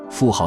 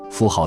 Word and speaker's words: 妇好: 妇好的好字，有的观点认为应该读作字，但大多数人应该还是习惯读作好。